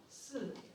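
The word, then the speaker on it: 四: unlucky in Chinese culture because the word for 4, si, sounds like the word for death, si.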